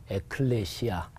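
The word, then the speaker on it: ἐκκλησία: 헬라어로 발음해 보면 바실레이아 이렇게 발음해요. 그리고 교회는 에클레시아.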